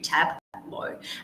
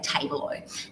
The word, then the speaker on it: Tableau: tricks, obviously, because sometimes Suno really didn't know how to pronounce Tableau. And so I'd have to feed the lyrics back in and very specifically write out T-A-B-L-O-W, Tableau, because otherwise it would say Tableau.